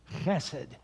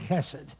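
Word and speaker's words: חֶסֶד: In Hebrew, the word behind mercy is chesed. It's a guttural sound, goes way back in your throat.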